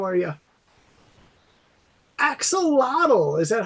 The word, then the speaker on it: axolotl: Axolotl. Is that how you say it, Mister? Axolotl.